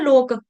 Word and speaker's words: लोको: लोको लोक होता है ना लोक इतने सारे लोक हैं। लोको ठीक है। इसमें क का उच्चारण करना है। गलती से ग नहीं कर देना। लोग लोग नहीं है लोको यहां पे लोक की